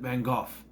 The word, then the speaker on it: Van Gogh: get frustrated because they keep Cohen and Vincent van Gogh it's Van Gogh say it right or don't